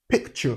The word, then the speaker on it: picture: Ch, picture. So the word picture, ch, take note of that sound.